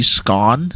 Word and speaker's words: scone: I know people say scone sometimes uh it rhymes with gone for some people but I say scone so uh yeah there